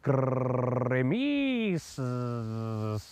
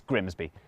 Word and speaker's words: Grimsby: Looks simple, but what if we told you it was pronounced Grimmies? We'd be lying, it's Grimsby.